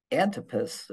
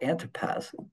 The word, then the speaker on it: Antipas: to make clear that Antipas or Antipas Herod Antipas I've heard it pronounced both ways Herod anpus was basically